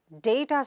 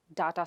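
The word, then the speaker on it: data: You are doing a programme in day-ta science and not daa-ta science. So, how do you pronounce that word?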